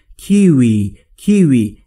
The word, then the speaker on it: kiwi: حالت لوله‌ای یا حالت بوسه باشه و میگید کیوی کیوی، and و a melon.